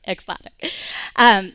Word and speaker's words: Axoniq: And by the way, we were saying the name wrong for like 3 months before we realized it's Axoniq.